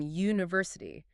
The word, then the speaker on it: university: And university starts with the letter U, a vowel, but it's pronounced with a Y sound at the beginning, university.